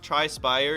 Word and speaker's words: Tri-spire: Tri-spire, yeah, it's spire. Not spear.